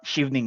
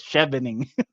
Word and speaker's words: Chevening: research a bit what Shing is and I did not even know how to pronounce it a while ago I thought it was chevening so it turned out it's Shing scholar so which is basically